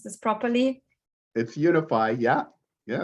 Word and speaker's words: UniFi: Did I pronounce this properly? It's UniFi, yeah.